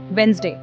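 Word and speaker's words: Wednesday: हां ऐसे वर्ड्स हैं वेडनेसडे। इसमें डी और कुछ हद तक ई भी साइलेंट हो जाते हैं।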